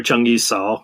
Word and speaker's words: Zheng Yi Sao: extortion you uh you you use the uh cantonese pronunciation in your book you don't call her changi saul no she's ching yet so and uh jang yi